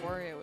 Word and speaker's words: Wario: Well, Waluigi, yeah, would be wah, but Wario is wow.